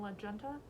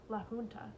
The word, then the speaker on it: La Junta: Do you know if there's a radio station in La Junta? She pronounces the hard J. He smiles. La Junta. It's Spanish.